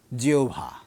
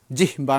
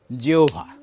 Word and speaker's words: জিহ্বা: তারপরে পয় তারপরে আকার এযে জিওভা জিহবা নয় বা জিহ্বা নয় জিওভা পরিষ্কার শব্দের মাঝখানে হ এর সঙ্গে ব যুক্ত হলে প্রথমে বটি ও তারপরে সাউন্ডটা হবে ভ এবার অন্যান্য ব্যঞ্জন বর্ণের